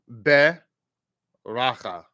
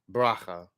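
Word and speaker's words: ברכה: Now notice, by the way, if you really kind of like are emphatic with it, you would say beracha, beracha. Having said that, in colloquial speech, it's really more of a bracha.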